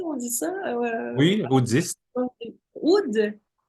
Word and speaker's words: oud: Oud. En fait, avec l'accent arabe, on doit dire Rud, mais même moi, je ne suis pas très sûr de bien le prononcer, mais c'est un Rud.